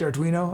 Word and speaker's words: Arduino: using Python with it am I saying a right Arduino I I don't I don't know I might maybe it's pronounced err do I know or who knows okay let's see start this poll is correct Arduino okay cool I've told